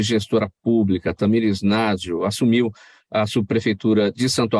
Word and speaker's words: Nagell: É Nagel a pronúncia do seu sobrenome?